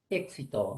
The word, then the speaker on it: éxito: Solo que cuando es la X a veces dudamos porque como la X representa dos fonemas, suena KS, entonces dudamos. Pero acá la regla dice que van después. Éxito, entonces sería así, pues, ¿no?